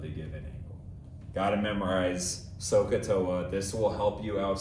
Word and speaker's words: SOHCAHTOA: We would pronounce this SOHCAHTOA, SOHCAHTOA, SOHCAHTOA.